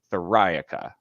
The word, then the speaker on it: Theriaca: friday said it perfectly it's like metallica where you emphasize that second syllable thorica and so that'll help